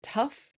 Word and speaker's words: tough: Though rhymes with go, through rhymes with blue, and tough rhymes with stuff.